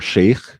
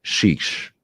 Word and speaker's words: Chiche: I'm sure they have their legitimate reasons, but to my understanding, it's not chic or sheikh, because this is a different word.